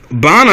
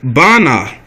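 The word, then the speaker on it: בנה: baniyan which means building bonner is the the right way to say it a tiny no way because we looked it up and uh that's how you say it bana so the taino wears right not the so-called jewish way bana okay and uh you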